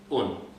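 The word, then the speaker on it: און: So you wouldn't write this, because by definition, a vav is either U or O. So in this case, it is U. And it is understood, when people speak the language, and this is pronounced Un.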